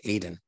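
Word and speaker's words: Ayden: Okay, Aiden, for real. Yeah, yeah. I used to live in a town down here in North Carolina called Aiden, but it's spelled A-Y-D-E-N.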